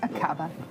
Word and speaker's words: Aqaba: Aqaba? Is that how you would pronounce it? Yes, Aqaba.